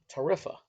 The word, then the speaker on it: Tarifa: gonna mispronounce this but I believe the town is called Tarifa okay ta RI FA